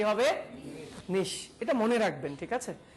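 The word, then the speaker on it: niche: নিশ। আপনি? নিশ। আপনি? নিচ। আপনি? আপনাকে বলছি। হ্যাঁ, ওকে, এটার সঠিক উচ্চারণটা আমি বলে দিচ্ছি। এটা সঠিক উচ্চারণটা অনেকেই করেছে, এটা হচ্ছে নিশ। উচ্চারণটা কি হবে? নিশ।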